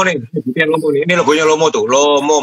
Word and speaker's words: LOMO: Lomo bacanya ya, bahasa Rusia.